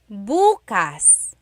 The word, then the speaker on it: bukas: If you say buas emphasis is on the first syllable that means tomorrow.